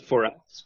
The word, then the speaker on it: FORUS: for yeah so and I like to pronounce it for us because it's not it's not